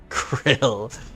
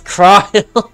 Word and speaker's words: Krile: Krill. Oh, it's Krile. I said Krill.